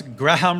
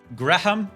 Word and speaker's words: Graham: Why do Yanks pronounce Graham wrong? Graham. Graham. How do you guys pronounce it? Is there like a secret sh sound? Grim. Graham. Graham. It's a Graham. It's a Graham cracker. G R A M.